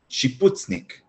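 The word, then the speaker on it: שיפוצניק: Listen and repeat. Shiputznik. Nik. Putznik. Putznik. She. Shiputznik.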